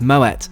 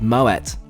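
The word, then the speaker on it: Moët: After stowing my bag, I'm offered a refreshing glass of Moet. Yes, before you say, it's pronounced with a hard T thanks to its Dutch heritage and founder Claude Moet.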